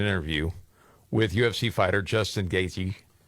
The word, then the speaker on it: Gaethje: So, Joe Rogan is doing an interview with UFC fighter Justin Gaethje. Gaethje. That's how you pronounce it. The th is silent.